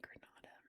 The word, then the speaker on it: Granada: And I believe that is pronounced the Spanish way. Granada.